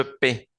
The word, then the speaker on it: paie: Je paie, je paie, el primero, je paie. Tenemos una A, una I y una E. La E al final no suena y la AI suena E, normal como en español, E.